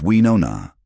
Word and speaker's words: Winona: "It's Winona," she corrected him gently one day. The O is rounder. "Winona," he repeated, shaping his mouth around the syllables.